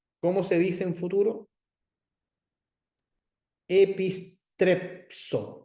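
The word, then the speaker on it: ἐπιστρέψω: Epistrepso, con la psi, porque está la sigma escondida ahí entre la pi y la sigma. Epistrepso.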